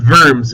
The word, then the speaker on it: Worms: of vers it looks like worms but it's pronounced vers v w r Ms and 50 years after